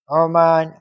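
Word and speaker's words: عمان: ആ അല്ല അ ഓക്കേ അ ഉമാൻ ഒമാൻ അല്ല ഉമാൻ ഉമാൻ ഉമാൻ എന്താണ് ഉച്ചാരണം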